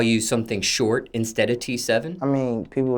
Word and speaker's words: T7: your stage name t7 the regular letter T and number seven T cell do people